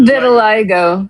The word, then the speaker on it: vitiligo: vitiligo, I think. I don't know how to pronounce Vitiligo? it. Vitiligo.